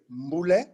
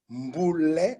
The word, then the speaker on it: Mboule: Yeah, my name is Mboule. Mboule.